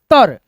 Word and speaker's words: उत्तर: लिख देते हैं और एक त को एक त में मिलाकर के पढ़ते हैं जैसे उत्तर उत्तर उ त आर उत्तर